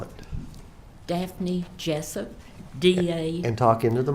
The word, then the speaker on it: Daphne Jessup: court and the jury your full name and spell it dapne Jessup da and talk into the microphone d a